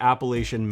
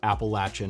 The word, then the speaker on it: Appalachian: the AMC stands for the Appalachian Mountain club or appalachin Mountain Club if you want to say it correctly but I don't the